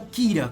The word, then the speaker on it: Killer: em saber começando pelo Killer ou Kira Como é o seu nome pronunciado em japonês a sua grande inspiração